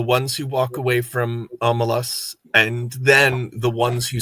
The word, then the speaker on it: Omelas: I was saying the name wrong though. Omelas.